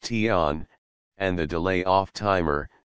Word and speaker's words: TON: delay on timer sometimes called a ton pronounced ton and the delay off